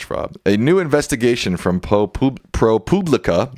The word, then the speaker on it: ProPublica: A new investigation from ProPublica, which apparently is how you pronounce it. I think that's ridiculous, but apparently that's how you pronounce it. ProPublica.